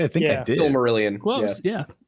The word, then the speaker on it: Silmarillion: Did I pronounce it correctly? I think I did. Silmarillion. Close. Yeah, Silmarillion.